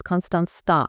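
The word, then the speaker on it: Constanța: How do you pronounce that? It's Konstanza. Okay, Constanza.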